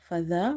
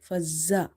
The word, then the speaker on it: فذبحوها: So here in the word فذابحوها, remember to pronounce the dhal from the tip of the tongue. Never say it fazza. You have to say fadha, the, by suppressing your tongue.